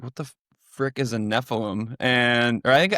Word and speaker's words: Nephilim: And I was like, what the frick is a Nephilim? Or I think I didn't even pronounce it correctly at first. I was like, Nephilium?